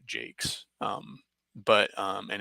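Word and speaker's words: Jacques: wall books uh by Brian Jakes or Jacquees or whatever I think he pronounces the Jakes um but um and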